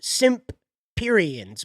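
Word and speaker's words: Semperians: This is the planet of the Simperians, and it is pronounced Simperians, by the way, even though it's spelt Semperfi from the Marines, the American Marines.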